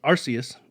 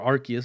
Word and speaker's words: Arceus: uh because i've got one in uh in arceus and or arceus however you want to pronounce it i've heard it both ways um